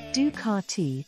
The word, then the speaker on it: Ducati: another day another story ducatti Italian pronunciation du karti is an Italian motorcycle